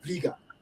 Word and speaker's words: Bliga: Matthews, Mother Bliga B, and that's how you pronounce her name, Bliga.